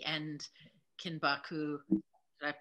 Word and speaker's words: kinbaku: I love that, because in part one, you were talking a lot about words like shibari and kinbaku. Did I pronounce both of those?